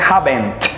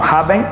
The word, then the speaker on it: haven't: ¿Ves que hay una T con haven't y hasn't al final? Súper bien, porque no la vas a pronunciar. No se pronuncia haven't, ni se pronuncia hasn't, sino haven't y hasn't.